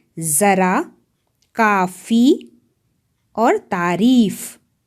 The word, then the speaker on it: ज़रा: अगर ये नुक्ता नहीं होता हम इसे जरा बोलते, लेकिन नुक्ता लगने के बाद हम इसे जरा बोल रहे हैं। सो it makes a pronunciation difference.